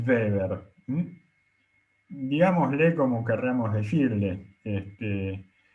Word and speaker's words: Weber: no hablo alemán fluido mi pronunciación está educada para pronunciar la W como una B corta y la b corta como una F este en alemán eh en inglés sería Weber en alemán es Weber digámosle como querramos decirle